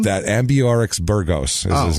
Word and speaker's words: Ambiorix: it for you here I can pronounce it but I'll spell it a m b i o r IX is his first name ambro no it's uh ambiorix actually ambiorix that's that's a full